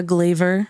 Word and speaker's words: Glavor: my name thee glaver on Instagram or glaver docomo this um but it's spelled like Flavor so it's GLA v o r um Show's coming up